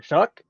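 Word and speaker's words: Shough: Which by the way I just realized how to say his name today. Um, it doesn't look like it like as as a choir guy, somebody that has literally studied how to pronounce things. No, it doesn't make any sense to me. No, I was over here saying Tyler Shu try to show and nope, I'm not even close.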